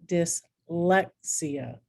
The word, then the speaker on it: dyslexia: the accent that come the syllable that comes before ia is accented as in dyslexia begonia by the way these